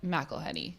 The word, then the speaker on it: McElheny: times I was like mahany and I kind of think that sounds good I will respond I think so my husband's family pronounces it Ma heny heny yeah I feel like